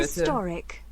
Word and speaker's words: historic: First syllable, but when it's an adjective, that will be on the second one.